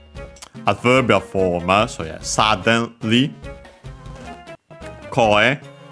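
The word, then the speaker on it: 声: So yeah, suddenly, koe, voice. Accent on the first mora.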